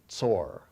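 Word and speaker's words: tsor: So it's pronounced tore ts o r and that means a rock or stone.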